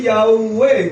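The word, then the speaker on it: יהוה: Esto se pronuncia Yahú. Las 4 letras siempre se ha pronunciado Yahú. Algunos dicen Yahweh, dándole terminación a la Hei como si fuese una E.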